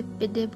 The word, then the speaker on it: pide: Basically ये pizza है और टर्किश लोग इसे पिड्डे करके प्रोनाउंस करते हैं।